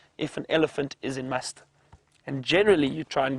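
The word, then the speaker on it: musth: the bulls when they are in a stage known as must, which is spelled m u s t h and it's apparently an Indian word.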